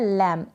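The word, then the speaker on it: lamb: बी को ब यहाँ पर प्रोनाउंस नहीं कर देंगे, बी साइलेंट रहेगा यहाँ पर, तो लैम रीड किया जाएगा।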